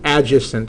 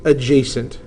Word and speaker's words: adjacent: That is not pronounced adjacent. It is pronounced adjacent.